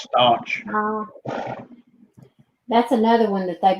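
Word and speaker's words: Stauch: pronounced Stotch.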